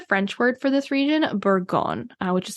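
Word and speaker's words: Bourgogne: also see the French word for this region buron which is spelled b o u r g o g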